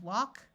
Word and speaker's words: walk: have words anding an A K in all of these words the a will take on its broad sound of a so we have walk talk chalk and stalk in all these words the a has its broad sound of a and the L is silent in